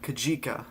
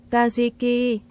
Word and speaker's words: Kajiki: So, Kajika, I think it's Oh, no. I forgot how to forgot to look up the pronunciation of this storm.